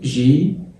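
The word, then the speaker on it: gilet: الاو تي بتتنطق ايه تبقى جي، الاي بتنزل ازاي؟ جيلي اللي هو السديري او البلوفر الكات، السديري او البلوفر الكات.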